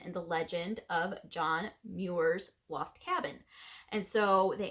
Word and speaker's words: Muir: um john moore ah i looked up how to say his last name muirs i think that's how you say it um he's a famous